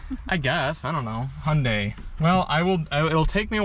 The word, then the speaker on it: Hyundai: It's Hyundai, like Sunday. Hyundai. Okay. Hyundai. Well. That sounds nicer than Hyundai. I guess. I don't know. Hyundai.